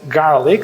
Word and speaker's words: GLRC: Okay, so now the next act is this tool called Garlic. So it's spelled GLRC, but actually you pronounce it as garlic.